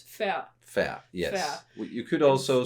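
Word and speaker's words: færd: So you don't really pronounce the d. So f a r d. You don't pronounce the d. So it's uh it's fair.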